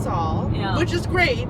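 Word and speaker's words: Sul: how to pronounce it didn't know what the like Saul Saul Soul sale she thought my name was Saul her name is Saul yeah which is great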